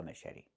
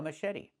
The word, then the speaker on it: machete: The ch makes a soft sh sound like in fish. Mh. And then eddie. The t makes a fast d.